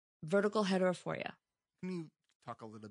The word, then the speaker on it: vertical heterophoria: It was the vertical heterophoria. Did I say it right? Uh-huh. Yeah, it's binocular vision disorder, and one of the conditions is called vertical heterophoria.